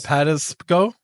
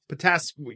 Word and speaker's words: Patapsco: It's Patasco? I don't know. Patapsco. Yeah, what he said.